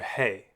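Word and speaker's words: ה: Now we have the letter He. He has an H sound, as in hat. At the end of a word, we can see He in a couple of different ways.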